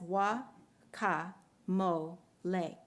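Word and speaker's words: guacamole: cards in her collection she phonetically describes wakka moly as wah Moe lay and she and you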